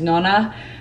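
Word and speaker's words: nonna: Nona, Nana. I know that the correct pronunciation for grandma in Italian is Nona, but I grew up calling my Nona, Nana.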